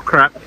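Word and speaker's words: crêpe: How do you say it? Crepe or crap? I think it's crepe. That's why you get the little accent over the E. So I think it's like an A.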